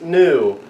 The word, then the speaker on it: nu: one, and it's pronounced new. I have not heard any variation, don't look at him. I have not heard any variation with like a Y in the beginning. So they just call it new.